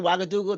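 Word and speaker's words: Ouagadougou: Yeah, you said the correct the correct pronunciation. Wagadoo.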